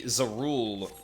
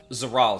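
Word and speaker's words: Zoraal: right like like ironically zeru would uh zaral sorry God I always pronounce his name the other way around in terms of the vowels um zaral on the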